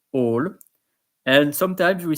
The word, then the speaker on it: hall: say all in French we don't pronounce the h we don't say whole we say all and sometimes we say